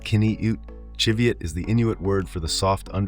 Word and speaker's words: qiviut: Pronounced kin-ee-ut, qiviut is the Inuit word for the soft underwool produced by musk oxen, prized for its insulating warmth.